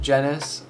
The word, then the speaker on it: Jennis: my name is jennis uh that's how you pronounce my last name it's hungarian even though i'm romanian